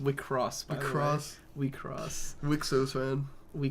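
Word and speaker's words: WIXOSS: It's pronounced Wicross.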